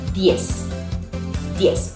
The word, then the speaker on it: diez: And we don't pronounce the Z. It's just an S.